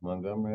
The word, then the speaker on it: Montgomery: Yeah, Montgomery, Alabama. Okay, I know he don't have to say it with a different accent. Of course, you know from the Martin Luther King days that Montgomery, Alabama has always been a center focus for